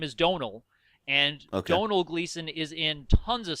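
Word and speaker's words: Domhnall: has a son whose name is Donal and Donal Gleason is in tons of stuff this year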